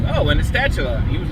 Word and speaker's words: Astatula: I call it Astatula because it's spelled A-S-T-A-T-U-L-A. Common sense, Astatula.